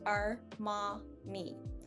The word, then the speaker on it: Armani: comes with our languages so the biggest pronunciation choice that i see here is uh our ma that a actually um i hear a lot of people take on a y sound or arm or manny maybe uh because they're breaking